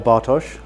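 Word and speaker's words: Bartosz: Uh so actually my name is Bart as you say or Bos for those who can pronounce it correctly because I'm actually I'm actually Polish.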